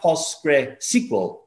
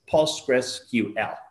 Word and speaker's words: PostgreSQL: then you go with the q and l they are pronounced like if they were individual letters so it's not pos square sql it's pause press ql right easy why the